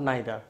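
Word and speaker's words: neither: এবার আসো distributive pronoun, each, আইদার আর নাইদার, বা এটাকে ইদার বা নিদারও উচ্চারণ করতে পারো, ইচ, ইদার বা নিদার।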